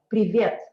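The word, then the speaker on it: привет: it again thank you you put the stress on this letter privet okay i want you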